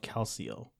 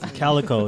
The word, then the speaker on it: Calico: owns is like a life extension project called Calcio. Bro, straight up. That's that rich people stuff, Do you want them to spell it out for you, bro? Illuminati, bro. Calico.